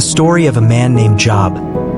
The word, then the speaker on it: Job: It's the story of a man named Job, pronounced Job, not like the word for work, and it's a story